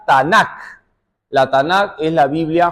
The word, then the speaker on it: Tanakh: Tomamos la T, la N y la K, se pronuncia Tanakh.